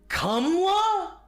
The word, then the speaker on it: Kamala: So, in this case, we'd better we'd be better off pronouncing her name more like Kamla.